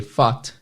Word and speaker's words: fought: A próxima palavra, que é o passado de fight, é fought. A escrita é F-A-U-G-H-T, mas a pronúncia é F-O-T, fought.